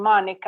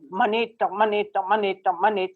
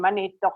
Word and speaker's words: Manitok: I kept saying Monito. And she kept saying Monica. I kept saying no. I didn't even say no. I just said monito. I wouldn't give up just saying my name Manito until she could pronounce